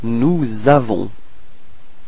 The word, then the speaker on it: nous avons: So you can notice that there is a small link between this S and A. That's what we call la liaison. So you get to put this small link. So it's like Z. Nous avons.